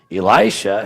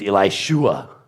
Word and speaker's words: Elisha: I have yet to find a person come up to you on the street and say, Elisha, his name was Elishua.